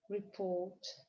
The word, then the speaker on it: report: Буква О и буква R дают долгий звук О. Report.